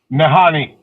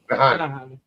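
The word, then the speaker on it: Nahanni: You're going to Nahini, and what is it? Nahini? Yeah, I can't pronounce it. How do you pronounce the name of that valley? Nahani. Nahani.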